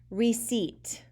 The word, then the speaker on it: receipt: spell the word receipt it has a tricky silent letter in it that p is silent receipt so if you